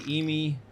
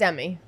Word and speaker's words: Emi: I say Emi because that's how I pronounce it, but I know it's Emmy. Emi.